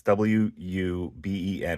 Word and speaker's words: Wuben: It's W-U-B-E-N, Wuben. That's how I pronounce it.